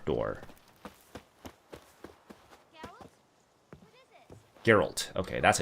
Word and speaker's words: Geralt: Geralt. Okay, that's how you pronounce it.